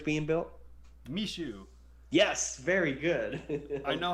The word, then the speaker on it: Michoud: too and i'm like that no how about me shoe me shoe is way better yeah literally that's how it's pronounced apparently yeah because that's spelling the south